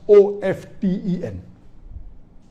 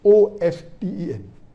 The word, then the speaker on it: often: of 10 is correct t is not silent it should be pronounced some say t sign